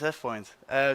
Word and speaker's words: AvePoint: Yeah, well, what is AvePoint? So first of all, let's start with pronunciation.